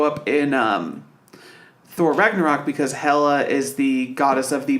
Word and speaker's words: Hela: She plays Hela. Yeah. I do not like that name. Well, I think they might be going with Hela because original pronunciation is Hell, but this is a movie kids are going to go see.